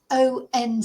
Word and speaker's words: once: Uh onset which is spelled o n c e.